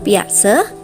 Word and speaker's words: Piaget: tentang teori perkembangan kognitif piase maka kamu harus mencarinya dengan ejaan yang tepat yaitu p i a g e t Piaget Ya begitulah cara penulisan yang benar namun cara membacanya yang tepat adalah biasa piase menyatakan bahwa